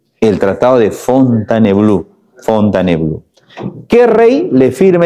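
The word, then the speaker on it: Fontainebleau: tratado de fontan bleau se escribe fontane blau pero a la hora de pronunciar se dice fontanblue el tratado de fontanblue fontanblue qué rey le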